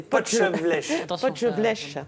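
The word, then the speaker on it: potjevleesch: C'est Potelvache.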